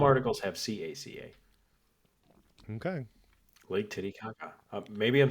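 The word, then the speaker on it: Titicaca: Lake Titty Kaka.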